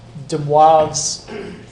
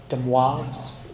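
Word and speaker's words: De Moivre: theorem we're going to look at is called deav theorem that's how you say it deav theorem okay and let me show you how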